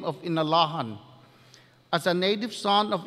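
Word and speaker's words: Inalåhan: renaming of our village from the western pronunciation of in iran to his indigenous and traditional name of inalahan guahu si kenneth p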